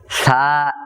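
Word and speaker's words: ث: থা এর মাখরাজ হলো জিহ্বার আগা সামনের উপরে দুই দাঁতের আগার সাথে লাগাইয়া। অর্থাৎ জিহ্বার আগা সামনের উপরের দুই দাঁতের আগার সাথে।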